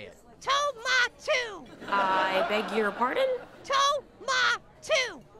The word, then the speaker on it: Tomato: And remember, when you meet my boss, make sure to pronounce his name exactly right. Oh, yeah? How does he say it? Tomatu.